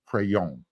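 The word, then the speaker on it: Pregnon: battle with transfer Emmanuel crayon to be the starter in 2023 yes um we got word it is pronounced crayon moves the G lose the hard G pretend you're French pronounce it like your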